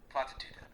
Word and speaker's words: Platitude: Platitude. The standard German pronunciation is platitude, with stress on tu. The u is like in Tour.